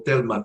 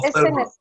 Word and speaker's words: Thelma: ¿Es Thelma o Telma? ¿Cómo lo pronuncia su nombre? Tengo la costumbre de pronunciarlo en inglés, por eso tengo más mi mente en inglés que en español a veces. ¿Es Telma o Thelma? No, Thelma, aunque Thelma.